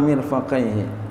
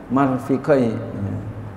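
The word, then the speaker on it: مرفقيه: Asal itu yang ketiga, ghuslu yadaihi ma'a mirfaqaihi, bacanya boleh marf, ya ini mirfaqaihi, boleh bacanya marfiqaihi, mirfaqaihi.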